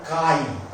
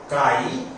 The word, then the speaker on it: chi: or P equal to, this symbol is called chi, written as XAI, and its pronunciation is chi or xi, and its spelling is XAI, epsilon naught E.